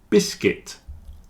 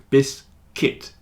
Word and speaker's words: biscuit: business women business women biscuit circuit and build have a silent U you see the U is not pronounced in biscuit circuit build not biscuit or bisc it's biscuit biscuit circuit build they